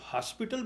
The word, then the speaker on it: hospital: देखो अब आपकी मर्जी है, आप इसको हॉस्पिटल पढ़ो जो कि राइट प्रोनाउंसिएशन है, और चाहे अस्पताल पढ़ो.